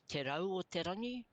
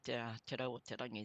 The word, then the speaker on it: Te Rau o Te Rangi: And there's a te in front of Te Rau o Te Rangi. That's how you pronounce the name. It's not just Te Rau o Te Rangi.